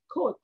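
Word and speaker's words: Comte: রাখতে হবে বানানটা আমাদেরকে মাথায় রাখতে হবে কিন্তু উচ্চারণ হবে কি খোদ অগাস্ট খোদ বাংলায় দেখবেন যে ক এর উপরে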